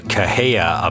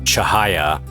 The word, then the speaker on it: Cahaya: I've been calling it the Well, I've been calling it the Caha update, but it's actually pronounced Chahaya, but I suppose it really doesn't matter because it's not called that.